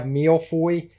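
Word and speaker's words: Millefeuille: And then we have Milfoy. Did I say that right? I can't remember how you pronounce it. I think you got it right.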